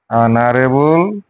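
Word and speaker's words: honourable: উচ্চারণ হওয়া নাই এইচ টু কিন্তু শোনেন এইচর উচ্চারণ হুয়া নাই ইয়াতে হবো এন an hour N অনারেবল ম্যান এন অনারেবল ম্যান ওইদিকে বুঝি পালু যদি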